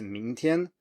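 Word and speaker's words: 明天: So you go up and you stay up for the first tone then.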